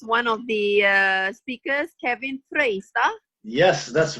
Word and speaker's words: Frøystad: He is one of the speakers, Kevin Frøystad. Yes, that's right. You pronounced Okay.